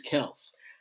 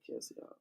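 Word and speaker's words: Kelce: But his last name is Kels. That's how you pronounce it. Mm-hmm. The Y, I guess, is silent. I'll be saying Kelsey.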